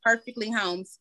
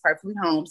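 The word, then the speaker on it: Perfektly Holms: so um on um Twitter my name is perfectly homes spelled the same way with the um with a k p e r f e KT l y and then homes h o l m s perfectly homes that's me on Twitter and then I also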